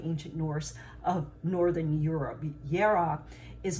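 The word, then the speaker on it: Jera: have for today is it's called yara it's spelled j-e-r-a and it looks like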